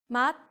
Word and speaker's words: 맛: So you would pronounce these 3 consonants as 디귿. 맛, taste.